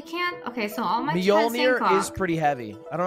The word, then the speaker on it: Mjolnir: You know how to pronounce the real thing? Mjolnir.